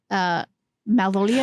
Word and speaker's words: Malvolia: We didn't talk about the fact that like this is hosted by Malvolia. Is that how you say it? Queen Malvolia? Queen Malvolia.